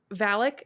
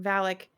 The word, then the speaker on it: Valak: it's Valak. Is that how you say her name? Mm-hmm. Valak.